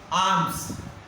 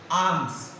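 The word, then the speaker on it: alms: Arms. Arms. दान करना. Okay, L is a silent.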